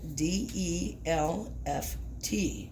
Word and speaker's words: Delft: The piece that is in front of you right now is Delft Blue, and it's spelled D-E-L-F-T, Delft.